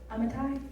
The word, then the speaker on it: Amittai: Amittai?